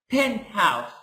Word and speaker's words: penthouse: so exception so the exception here that it's pronounced penth house penth house okay now let's go further to